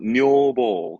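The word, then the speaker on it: 女房: 발음 그래서 뇨보.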